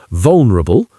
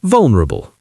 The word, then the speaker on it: vulnerable: one, but there are a couple of accepted pronunciations. We have vulnerable, vulnerable, with 4 syllables, or vulnerable, vulnerable, with just 3. Vulnerable, vulnerable. Which one that you think I favour? I prefer 3 syllables. We love getting rid of vowel sounds in the middle of words like this. Think comfortable and vegetable and chocolate. But vul, that consonant cluster, is quite a mouthful.